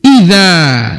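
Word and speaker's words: إذا: orang-orang yang wajib dinafkahi idza dengan syarat jadi bacanya gitu idza dengan syarat kamu mereka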